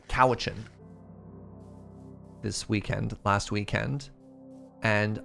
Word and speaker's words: Cowichan: stuff like that and Google Maps kept pronouncing cowichin koichan and I just pictured